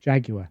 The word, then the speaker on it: Jaguar: Jaguar. Yeah. Did I say that? No, some people say Jaguar. Did I say that? It's not. No, I'm just saying. It's not Jaguar. 3 syllables.